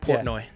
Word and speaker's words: Portnoy: Portnoy. Portnoy. Port, Port. like port, like pulling into a port. like a new port.